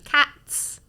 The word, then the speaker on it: cats: Quindi i plurali spesso vanno pronunciati con S o Z a seconda, o le terze persone o in generale. Per fine esempio parola. dici cats, però dici dogs.